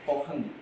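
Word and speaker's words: poging: Aku mau coba jelasin yang namanya poh atau kita bacanya poheng.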